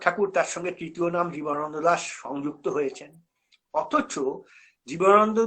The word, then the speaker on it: জীবনানন্দ: জীবনানন্দ দাশের জীবৎকালে তার অনেক সহকর্মী তার নামটিকেই সঠিকভাবে উচ্চারণ করার প্রয়োজনীয়তা বোধ করতেন। জীবনানন্দ দাশ অনেক ক্ষেত্রে জীবানন্দ দাশ হয়ে গেছেন।